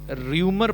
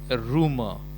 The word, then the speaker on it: rumour: इसका जो प्रोनाउंसिएशन है ये लोग र्यूमर पढ़ जाते हैं, र्यूमर। तो ये र्यूमर नहीं होता है, ये होता है रूमर।